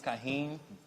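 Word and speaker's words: Kaheem: your full name here um my name is kahen teller is to spell it out or no k a h e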